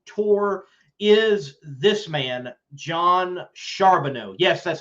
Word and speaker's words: Charbonneau: nhra camping world tour is this man john charbonneau yes that's how you pronounce his last name charbonneau he hails out of the northeast and he